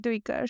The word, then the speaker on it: Duiker: I usually call him Duiker, but I know the audiobook says Diker, and Oh, it gets interesting. stuck in my head. But Oh, I've heard okay. Erikson call him Duiker. So but yeah, audiobook pronunciations can stick in your head, even when